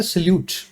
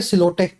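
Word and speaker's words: silhouette: ये भी आता है सल्यूट। अब लिखा क्या गया है? सिलोटे। बोला क्या जाता है? सल्यूट।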